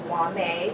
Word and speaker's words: Whamae: me uh via email my email address is wame that's spelled w-h-a-m-a-e my last name which is